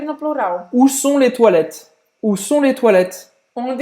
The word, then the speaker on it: toilette: Toilette. Toilette. O O em francês vai ter esse som de UA. E aí o ES no final você não pronuncia. Simples assim. Termina a pronúncia no T.